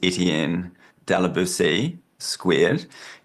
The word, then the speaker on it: Etienne de la Boetie2: about your name, and I believe it is pronounced Etienne de la Boétie Squared. And correct me if I'm wrong, but that is to distinguish yourself from a French philosopher of the same name.